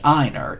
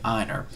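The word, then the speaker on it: Ienner: I never could pronounce his name. Donnie Einer is I-E-N-N-E-R.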